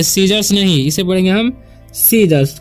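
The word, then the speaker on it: Caesar: ठीक है, मिस्टेक हो गया है, तो इसे पढ़ेंगे हम सीजर। सीजर मतलब होता है रोमन सम्राट। यहाँ पर जो है ए साइलेंट है।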